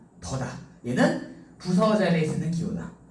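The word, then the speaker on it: 地: 그 다음에 우리 부사어 자리에 땅짓자가 이렇게 쓰이면 얘는 발음이 띠가 아니라 얘도 뭐다? 더다.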